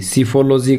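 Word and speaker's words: psephology: 76 हमारा जो वोकैबुलरी है वो है PSEPHO, P इसके अंदर साइलेंट है तो इसे बोलेंगे सिफोलॉजी का मतलब होता है स्टडी ऑफ इलेक्शन।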